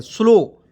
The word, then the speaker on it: slow: यहाँ पे देखिए SLOW, तो क्या हो जाएगा, S से आधा स होता है, LO से होता है लो, और देखिए W का इसमें छिपा भी सकते हैं और वो भी वह भी जोड़ सकते हैं, स्लो। क्या पढ़ेंगे, स्लो पढ़ते हैं।